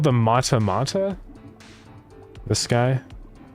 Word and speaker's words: mata mata: It's called the mata mata. This guy spelled like this.